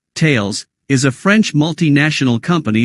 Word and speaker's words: Thales: Greek philosopher Thales pronounced tales reflecting its pronunciation in French from thomson-csf in December